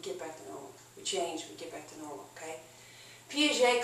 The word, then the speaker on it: Piaget: You've seen his name in your book, Jean-Paul Piaget, P-I-A-G-E-T. You probably didn't know how to pronounce it, okay? It looks like Piaget or something. It's pronounced Piaget.